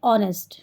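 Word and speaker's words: honest: लेकिन साउंड क्या बोलते हैं उसको? ऑनेस्ट। यानी वहां एच साइलेंट होता है।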